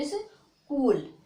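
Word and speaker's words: school: का उच्चारण नहीं करेंगे, इसको पढ़ते हैं इस का को, सी को का बोलते हैं इस कूल, क्या बोलते हैं, इस कूल।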